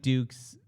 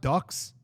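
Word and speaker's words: Dux: How do you say it's not Ducks? They say Dukes, I thought. I like Ducks better.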